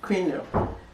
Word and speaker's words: quinoa: Try and pronounce it. Quinoa.